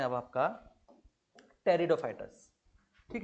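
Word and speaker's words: Pteridophytes: कैसे, टेरिडोफाइटस जो होता है आपका वो आपका पी से शुरू होता है और उसमें पी साइलेंस रहता है।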